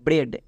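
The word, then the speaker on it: bread: জন্য একার রয়েছে তাহলে বি আর এর জন্য ব্রো ই এ এর জন্য একার ডি এর জন্য ডো মানে ব্রেড একই রকম ভাবে ডি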